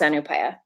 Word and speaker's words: ANUPAYA: So it can be a little hard for people to pronounce, and yeah, but that's ANUPAYA.